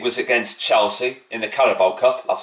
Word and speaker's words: Carabao: Rice's free kick was against Chelsea in the Carabao Cup. That's how you pronounce it, by the way.